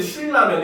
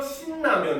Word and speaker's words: 신라면: 발음해야 돼요 근데 여러분들 신라면 이렇게 합니까 아니죠 오히려 신라면 이렇게 얘기하잖아요 그죠 이름을 더 강조하기 위해서 신라면 이런 식으로 발음을 하거든요 이렇게 마찬가지로 유음화 환경인데